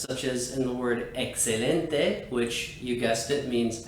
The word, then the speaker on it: excelente: as in the word excelente which you guessed it means excellent it's pronounced exactly like the x would be in english thanks so much for